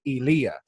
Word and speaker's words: Elia: was like you know your grandfather would pronounce it elia that's how they pronounce it in uh in the middle east and i was like